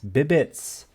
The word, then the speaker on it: Bibites: Bibites? Bibites? the Bibites. Bibbits.